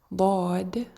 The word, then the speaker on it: ضاد: So first of all, it's pronounced from the edges of the tongue or the sides of the tongue with the roots of the upper molars.